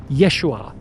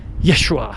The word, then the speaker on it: Yeshua: His real name was Yeshua Kamashiach. That's how you pronounce it in Aramaic.